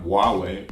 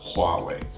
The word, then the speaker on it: Huawei: people you know Chinese descent or something not wha wait but Huawei next up we have giant zion.t ending it